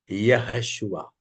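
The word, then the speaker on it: Yehoshua: नो, यहोशुआ। Spelling मैं बता दूं, YEHOSHU, यहोशु, YEHOSHU, यहोशु, AH, यहोशुआ।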